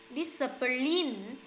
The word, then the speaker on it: discipline: Cái này đọc là Y nhá. Discipline. Self-discipline. Nhấn âm đầu.